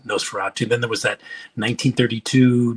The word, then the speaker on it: Nosferatu: Nosferatu. Did I say it right? Yeah, Nosferatu.